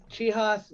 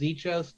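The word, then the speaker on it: Czichos: And Chihas, which I would have pronounced Zichos the first time, so thank you for that.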